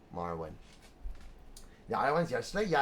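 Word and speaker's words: Marwyn: Marlin or Marwin? Marwin. And it's spelled like this. I think it's on the map how it's spelled. M-A-R-W-Y-N. Marwin.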